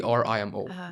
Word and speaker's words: Vrimo: actually the reason my name is VMO v r i m o rimo and um people find it very hard to pronounce the name so sometimes it to v